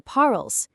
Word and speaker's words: parles: Even though tu parles has an s on the end, that s is completely silent. Je parle and tu parles actually sound virtually identical when spoken out loud.